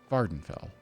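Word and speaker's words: Vvardenfell: Vardenfell. That feels right. Vardenfell with a V. There two V's. One of them is silent.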